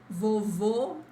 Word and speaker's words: vovô: Avó, avó, vovô, vovó. This all usually, as I said, is like in stressed syllables.